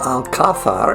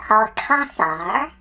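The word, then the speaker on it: Alcázar: Why do you pronounce it Alcazar when it is spelled A-L-C-A-Z-A-R? In most of Spain, except for the far southern province of Andalusia, you'll hear a soft th sound on the letter Z and on the letter C if it's before the letters E or I.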